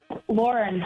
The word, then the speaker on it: Lauren: Lauren. Lauren. You want to spell that just to make sure cat's got a good vibe on that?